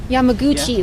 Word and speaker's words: Yamaguchi: Yamaguchi, Yamaguchi, and she is a commander.